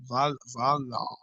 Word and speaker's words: valor: Valor. How do you pronounce this word, Semi Prabhu? Valor. Like lava.